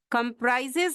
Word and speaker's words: comprise: And North Carolina comprises 100 country means it contains 100 countries. So comprise or compose, comprise with stress on the second syllable.